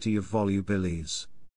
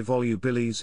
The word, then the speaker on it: Volubilis: they biurea in om volubilis Even In classical Latin the v in volubilis was pronounced like a w making the pronunciation closer